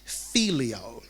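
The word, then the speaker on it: phileo: to our next one our next word is called filio and this is spelled p-h-i-l-e-o okay filio okay we're gonna set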